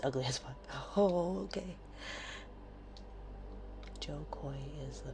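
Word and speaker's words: Jo Koy: Joe Coy is the pronunciation of Joe Coy.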